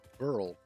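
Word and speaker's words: Beryl: Barrel nuts which also apparently can be pronounced Burl which is weird but I've always liked saying it as Barrel just about everywhere I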